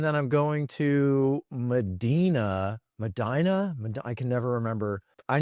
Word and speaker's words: Medina: Madina. I can never remember. I know. Yeah, I can never remember which one it is that Ohio pronounces it. I think it's Madina, but um in like June